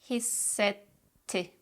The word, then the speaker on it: hissetti: Instead, we put a pause in between and we pronounce both T's very clearly. Hissetti, hissetti, bitti, bitti, gitti, gitti, kaybetti, kaybetti, yetti, yetti.